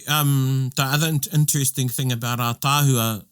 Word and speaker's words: ātāhua: But when you write ātāhua, the first A has a macron. Aye. Oh. Yeah. Yeah, because that's how you say it, ātāhua. You don't say ātāhua. Yeah. You say ātāhua.